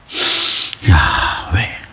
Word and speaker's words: Yahweh: Sebenarnya kata Yahweh di dalam pelafalannya itu seperti sebuah tarikan nafas dan nafas yang dibuang. Yahweh, Yahweh.